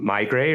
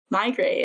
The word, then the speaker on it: Meigray: It's because it's Barry Meisel and Bob Gray. It's the two founders, like Meigray, connected together. So I think it makes more sense in the pronunciation when you remember that it's just the combination of their last names.